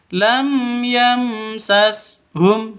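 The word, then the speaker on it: لم يمسسهم: Jangan didengungkan, jangan disentak. Lam yam itu salah. Atau lam yam itu salah ya. Lam yamsashum seperti itu bacanya yang benar. Yang betul lam yamsashum seperti itu.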